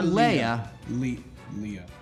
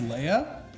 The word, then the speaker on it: Leia: sure it can occur Leia it could be pronounced either/or Jason wait you think it's pronounced Leah Leah Leah this is where's